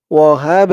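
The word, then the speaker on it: الْوَهَّابُ: সাথে দিয়ে ধরবে বাটা কলকলার হরফ ধাক্কা দিয়ে পড়তে হবে ওয়াহাব হাব এরকম ধাক্কা খাবে ওয়াহাব লা এক আলিফ টান ওয়াহাব লানা দর্শক আপনাদের যদি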